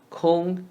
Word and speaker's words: 空: 空气 Kong is the word cone with more nasal sound in the first tone. Kong, kong.